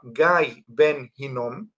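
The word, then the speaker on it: גיא בן הנום: hijo de de Ginom, que en hebreo se pronuncia Gay Ben Ginom, pero a veces se le quita el Ben, el hijo de y queda Nada másom.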